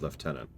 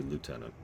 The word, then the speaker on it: lieutenant: Have always preferred the pronunciation of left tenant as opposed to lieutenant.